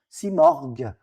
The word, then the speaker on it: Simorgh: Marara, c'est Murr à la fin, que nous on prononce morgue. Si morgue.